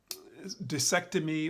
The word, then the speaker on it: discectomy: Um, um, Discectomy, or discectomy is how it's pronounced, has to do with taking care of